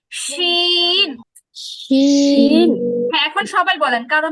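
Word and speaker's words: ش: দেন হচ্ছে শিন। শিনও হচ্ছে জিহ্বার মাঝখানের সাথে সম্পর্ক, কিন্তু এটার উচ্চারণটা পুরোটাই বাতাসের উপরে, বাতাস। শিন শিন।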